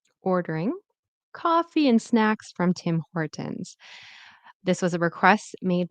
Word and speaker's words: Tim Hortons: So Tim Hortons. Make sure that you are pronouncing the N and the S, which is like a Z.